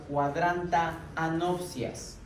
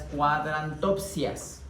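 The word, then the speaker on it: cuadrantanopsias: De ahí para atrás vamos a encontrar cuadrantaanopsias. La pronunciación y el significado difiere mucho de las cuadrantopsias. ¿Ok? Cuando ustedes me dicen cuadrantopsia, me hacen pensar que están viendo solo por un cuadrante.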